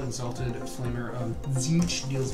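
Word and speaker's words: Tzeentch: Tzeech? Tzeech. Tzeech. Silent T. That's how I've heard it pronounced mostly.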